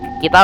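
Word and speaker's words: 木: Kita harus mencari jimat kedua. Kalau dilihat dari tulisannya ya, ini kanji mu, kayu. Kalau Jepangnya sih dibacanya ki ya.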